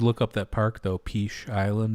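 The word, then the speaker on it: Peche Island: maybe i don't know how do you spell it p-e-c-h-e and then island um oh i think i've heard of this i think i've called it peach i didn't know yeah yeah it's called peach you know like okay um where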